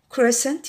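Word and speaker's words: crescent: بننطقها في بعض الكلمات السي بعد الاس لا تنطق زي مثلا فتين نطقنا الاس والسي ماتنطقش سور برضو نطقنا الاس سنت عطره او رائحه ساينس علوم كريسنت يعني هلال دي سند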